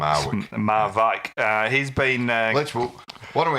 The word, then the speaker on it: Marwijk: It's Bert van Marwijk is how you apparently pronounce it. That's how you pronounce it. Yeah. Right. Okay. Not Marwick as it sort of looks. Marwijk.